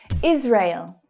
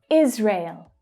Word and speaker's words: Israel: Israel, Israel. That first syllable is the stressed syllable.